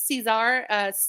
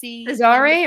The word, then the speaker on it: Cesare: I think it's Cesar. Cesare or Cesar? Yeah. Cesare.